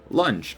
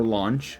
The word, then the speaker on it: Launch: i had in mind to review uh lunch or launch however you want to pronounce it depending on the way you um